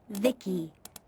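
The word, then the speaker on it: Vici: exploits by the way I'm v-i-c-i pronoun pronounced Vicky my Creator was Vivi secto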